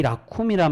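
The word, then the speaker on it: רחום: 근데 여러분 여기서 자비롭다는 말은 히브리어 원어로 라쿰이라고 되어 있습니다. 라훔이라고도 발음하는데 이 라쿰이란 말은 우리말로 자비라고도 해석하지만 긍휼하심으로도 그렇게 해석을 많이 합니다.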